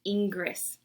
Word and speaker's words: Ingres: Cortez you're mispronouncing it it's Ingress it's not Ingress in French that's pronounced Ingres i don't know what